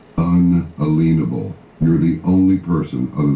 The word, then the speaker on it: unalienable: north of Bozeman, before I hear another man pronounce the word correctly, unalienable.